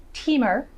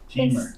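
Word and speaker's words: Timmer: It is pronounced Timur. Teamer.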